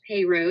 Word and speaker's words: Perrault: not from around here it is pronounced pyro it smelled like perrault but I started by